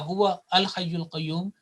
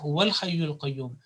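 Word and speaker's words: هو الحي القيوم: to the lam, because if you say Allahu la ilaha illa huwa al hayyul qayyum, according to the rules of tilawat and rules of recitation, it will be incorrect, and the right pronunciation will be Allahu la ilaha illa huwal hayyul qayyum.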